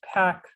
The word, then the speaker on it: pack: It's pronounced pack, pack.